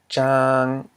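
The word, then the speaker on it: ຈາງ: Jang, jang, which means tasteless. Jang. We have the mid-consonant j plus a live syllable, ang, because it ends in a nasal sound. And it equals a low tone.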